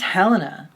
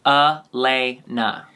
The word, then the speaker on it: Helena: They don't pronounce it with an H, babe. Hang on. I wrote it down how to pronounce it a long time ago. Here it is. Elena.